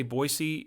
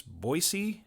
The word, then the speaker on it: Boise: pronounce the name so it's with an s not a z or a zed okay it's boise not